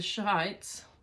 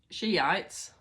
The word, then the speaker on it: Shiites: throughout the Islamic world to the shites sounds a bit rude doesn't it but Shiites I think that's how you say it sh h i Tes I think it's Shiites to the Shiites she